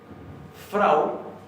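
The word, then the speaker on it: frá: La A con tilde es un diptongo, es Ajá.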